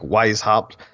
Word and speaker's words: Weishaupt: social feeds I've got a instagram under wise hopped why spout is wise hop is spelled w e is h au PT it